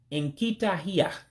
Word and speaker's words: Nkitahia: Two words to make one, so you have to drop a vowel. So fox will be pronounced Nkitahia. Nkitahia, fox. If you notice something, Nkita also means dog, so it's just a modification of the word Nkita for dog. So Nkitahia, fox.